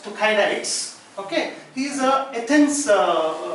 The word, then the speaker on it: Thucydides: Now, the first observation was made by it is pronounced Thucydides.